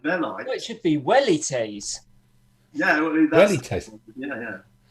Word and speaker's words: velites: No, it should be wellites.